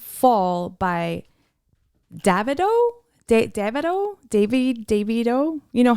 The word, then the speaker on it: Davido: Davido.